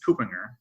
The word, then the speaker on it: Kuppinger: here so but yeah it's couponer as I learned today so already a successful